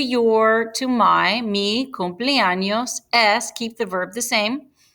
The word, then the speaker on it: y: Also notice that there's a list here, and at the end, right before the last thing that you say, you want to add Y, which is and it's pronounced E.